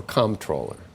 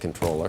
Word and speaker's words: comptroller: with Administration policy do you like controller or com controller I I like controller I like controller but